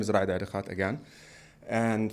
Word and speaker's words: Rad Arekat: so my name is Radhhat again and for those who cannot pronounce my name in in Arabic my name is Radikat um I've been in